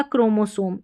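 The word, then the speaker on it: chromosome: Last में इ का उच्चारण नहीं होगा तो एम को म यह हो गया क्रोमोसोम।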